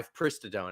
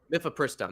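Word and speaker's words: mifepristone: And basically the FDA has approved a new generic version of u my me my pristadone. I might be pronouncing that mythristone. Mythopristone. That's right. Uh it's a 200 milligram like abortion pill.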